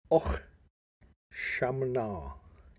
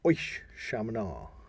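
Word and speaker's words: Oíche Shamhna: In this tradition, Samhain is called Och Shamna. That's a lot harder to say. Or Oish Shamna. I think it's better if you say it fast. Oish Shamna.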